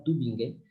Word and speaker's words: Tübingen: escola de teologia Tübingen, aí não pronuncio alemão, mas é assim, mais ou menos que se fala, Tübingen.